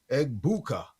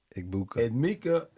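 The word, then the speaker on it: Egbuka: And my number one is Eggbuka. That's how you say his name. Eggbuka.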